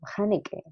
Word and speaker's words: Haneke: Ay, bueno, y también que había una productora que había trabajado con Haneke. ¿Cómo se pronuncia?